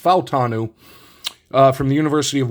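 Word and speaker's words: Fautanu: F falanu I found out his name is pronounced falanu uh from the University of Washington and I'm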